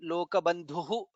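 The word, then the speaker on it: लोकबन्धुः: In the second line lokabandhuhu dha is mahaprana, lokanathaha dha is mahaprana, madhavaha dha is mahaprana, bhaktavatsalaha bha is mahaprana.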